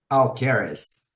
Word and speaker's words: Alqueres: Alcaris. Aleris. Thank you so much. I am terrible with pronunciations, especially when I don't speak Portuguese.